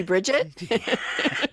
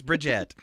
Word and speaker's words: Brigitte: Maybe Bridget? No, it's Brigitte.